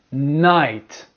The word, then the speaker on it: night: Now you have the I sound. I and the GH is silent once again. Silent. For example, light, night, bright, fight, flight, delight, high, thigh, sigh, sight.